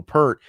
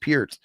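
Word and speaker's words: Peart: people still to this day call him Neil Pert even though it's been on record that hey my name's actually pronounced Pier.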